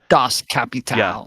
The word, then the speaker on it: Das Kapital: to say it like a smart person Das Kapital Kapital um yeah that it's that's why